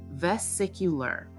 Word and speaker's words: vesicular: Pronunciation, vesicular.